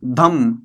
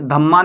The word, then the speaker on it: धम्म: बुद्ध धर्म अपना लिया, महात्मा बुद्ध, और जिसको इसने नाम दिया धम्म। ये धम्मा नहीं है, कहीं धम्मा पढ़ो आप, इसको धम्म है, ए साइलेंट रहेगा इसमें, धम्म। ये आगे भी है लेकिन